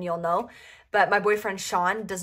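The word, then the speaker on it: Shaughn: It's Sean, but it's spelled different and nobody really knows how to spell it. So she wrote Hannah and him because his name is spelled S-H-A-U-G-H-N, which is not the normal way of spelling Sean.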